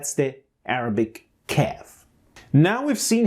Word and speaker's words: ك: Now I want you to observe the position of my tongue pronouncing the qa and ka.